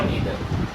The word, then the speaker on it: neither: Neither, neither, again the same thing. So it's a US and UK accent, so I cannot recall like which one is set for which purpose.